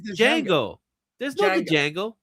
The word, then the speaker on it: Django: Did you just say Django? No, it's Jjango. There's no Jango like Jango Fett like Janget. Yeah, the D is silent.